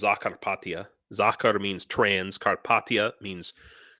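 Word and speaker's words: Закарпаття: I lived transcarpathia or in in Ukrainian it's pronounced zakara zakar means trans carpa means Carpathia so trans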